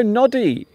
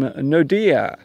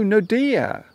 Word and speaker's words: Nodia: Hello, Noddy or Nodi. Hello, Nodi. Can you please say my name, Nodia? Hello, Nodia. And also goodbye to Nodia because I'm going now.